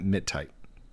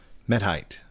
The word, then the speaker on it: Metite: test two and I I'm probably pronouncing that wrong I'm calling it MIT tight me met it tight met I met height met height because like height only without the K and then met in front of it met tight